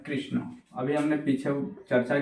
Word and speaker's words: कृष्ण: कृष्ण तो याद रहे जब भी हमें ये बोलना है कृष्ण इसका जो उच्चारण स्थान होगा वो मुर्दा होगा और मुर्धा का उच्चारण स्थान के लिए हम बोलेंगे कृष्ण कृष्ण कृष्ण थोड़ा सा अटपटा तो लगेगा पर रियालिटी है हम हमेशा कृष्ण का जो उच्चारण करते हैं वो गलत तरीके से करते हैं तो इसको आपको याद